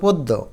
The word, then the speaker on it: পদ্য: পথে কিন্তু একটা অ আছে। এটা ওকারের মত হয়ে যাবে। অর্থাৎ প হয়ে যাবে। তার মানে এটা হবে পদ্য।